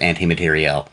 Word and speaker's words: materiel: But it is pronounced anti-materiel.